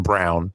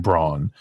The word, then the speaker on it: Braun: playing that role in Christian Brown even though they pronounce his name Braun uh I really like